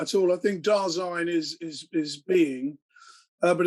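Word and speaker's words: Dasein: to discover that uh it rhymes with star sign dazzling darzine okay brilliant uh that's good for this video uh we can we can have the correct da sign okay so darzyn um but it's still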